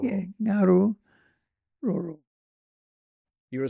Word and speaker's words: Ngaruroro: Well, the first two letters, NG, are the same pronunciation as the word tongue. Ngaruroro. Yeah, Ngaruroro.